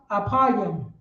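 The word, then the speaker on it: אפרים: So right here in Hebrew, Ephraim, how you say it in Hebrew is apayim.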